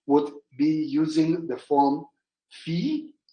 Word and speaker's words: fils: And in the case of the French, would be using the form fils, F-I-L-S, or fils, pronouncing the word son.